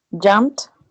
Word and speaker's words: jumped: the last one jump how do you pronounce jump jumped yes with t right tia din yeah very